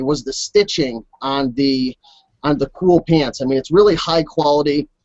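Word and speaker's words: Kühl: Am I pronouncing it right, Chris? Yeah, it's Cool.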